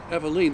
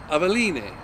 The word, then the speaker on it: Aveline: that pretty readily and they tell you how to pronounce it eveline though you would expect if it's spanish it'd be avaline but anyway aveline price wise